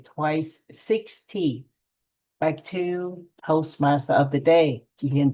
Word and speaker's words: Toastmaster: And I heard some of the pronunciations such as Toastmaster. You say the master a little longer. Toastmaster. And the chị Tuyết Lương, I'm not sure that I heard correctly, but 16, not 60.